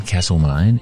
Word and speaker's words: Castlemaine: Carefully pronounce that one. Castlemaine in Victoria.